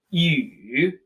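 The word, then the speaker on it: 雨: This is pronounced yu.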